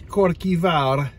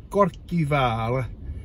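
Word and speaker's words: Kirkjuvágr: So Kirkwall, the city of Kirkwall, is Korkivar. Can you see that? Korkivar. It means church on the bay.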